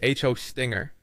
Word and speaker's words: Hostinger: The correct way to say it is Hostinger. Let's break that down further so you can understand the nuances here. It starts with host, pronounced like the word host, as in web host.